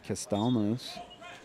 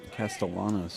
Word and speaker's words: Castellanos: Route 66 is Alex castelos Castellanos I believe is actually the pronunciation of the goalie's last name it's a backside turn